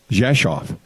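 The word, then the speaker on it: Rzeszów: kal but people pronounce it's in Polish is pronounced Josh off the hometown Abbey is from I if there's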